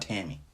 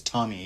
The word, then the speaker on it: Tammy: t-a-m-m-ra tammy it's not tammy it's tommy abraham that's how they pronounce it in england at least his whole life he's